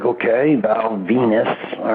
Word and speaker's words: Venis: some cocky gimmicks before but maybe the valve venus thing might have been a little bit more